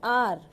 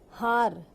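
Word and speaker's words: hour: of this word is R, not har. That is wrong. H is silent here and we pronounce it R.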